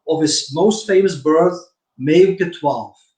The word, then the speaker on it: Meeuwke: And I got a chance to buy 2 grandchildren of his most famous bird, Meeuwke 12. I noticed that you say Milwaukee 12, but you pronounce it like Meeuwke 12. That's Dutch.